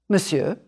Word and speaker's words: monsieur: e u r two you can draw a line through the the r to remind you not to say it voila try this or